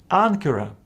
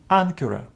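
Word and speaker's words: ἄγκυρα: other letters Ka and if Any of these letters follow Gamma this first Gamma is pronounced as n for example in this Word ancura ancura from which we have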